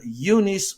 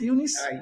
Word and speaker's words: Eunice: I'm talking about ifbb Pro women's bodybuilding Legend yunice Martinez kitchen and did I pronounce everything correct Unice yes you did I'm also a WPD Pro